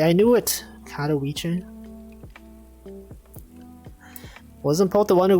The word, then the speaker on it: Katowice: I pronounced it right. I knew it. Katowice.